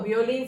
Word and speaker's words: violín: Violín se escribe con la de palomita. A ver, escribimos violín. Acento en la última I.